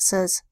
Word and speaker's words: says: And says makes a short E sound, We have a S that says S.